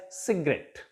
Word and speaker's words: cigarette: In case of सिगरेट, word ending in ETTE, at, stress will take place on the last syllable of the word, and it will be pronounced as cigarette, not cigarette, cigarette.